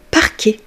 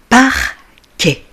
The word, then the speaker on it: parquet: Parquet. Parquet. La lettre T ne va pas se prononcer.